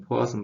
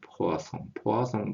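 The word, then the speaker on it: Poisson: 이거는 포화성 방정식이죠. 우리 보통 포화성 방정식 그러는데, 포화성이 프랑스 사람인가, 요 그래서 포화송이라고 읽대요. 포화송 방정식 그러대요.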